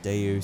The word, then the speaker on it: Daewoo: Um but yeah, it's pronounced Daewoo, so I say Daewoo.